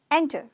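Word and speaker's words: enter: एंटर च च च र साइलेंट है चुप है र एंटर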